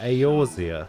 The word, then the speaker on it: Eorzea: Ah, Eorzea. We believed. But an That's how you pronounce that.